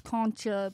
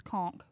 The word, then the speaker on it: conch: kcha eat this ass cona blessings cona last days anything con yeah and you don't even say con it's conch right right conch why why spell it